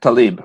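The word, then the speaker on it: Tlaib: be today but yeah people here pronounce it Talib so uh maybe I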